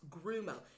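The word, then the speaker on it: guarumo: tree is called a grumo tree it is spelled g-u-a-r-u-m-o but it's pronounced grumo if you get some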